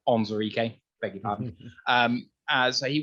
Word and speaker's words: Onwuzurike: They wanted to trade up from 41 to get Levi Onwuzurike. Got the name wrong. Onwuzurike, beg your pardon.